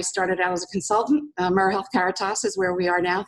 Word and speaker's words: AmeriHealth Caritas: AmeriHealth Caritas is where we are now. Thank you for pronouncing it correctly.